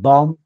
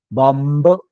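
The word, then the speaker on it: bomb: आवर हे सांगता येत एम नंतर जर बी आला तर बी चा उल्लेख होणार नाही किंवा होत नाही. मते जर पाहिलं तर बॉम thumb बॉमब thumb thumb असं नाही म्हटल बी मध्ये तो उच्चार होत नाही एम तिथे त्या उच्चाराला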